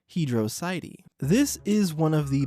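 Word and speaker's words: Hydrocity: the pronunciation was and according to him it's Hydro city as for me personally I think it's pronounced hedr cidi this is one of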